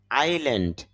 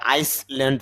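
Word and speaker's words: island: তার বাংলা অর্থ হল এর মত বা প্রায় আইল্যান্ড দপ আবার ভুলে আইসল্যান্ড পইড়ন না। এখানে এস এর উচ্চারণটা হবে না।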